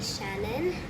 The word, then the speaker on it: Shann: Hi guys, I'm back and today I'll be interviewing DJ Shannon, one of my favourite DJs. His name is pronounced as DJ Shann, and I saw him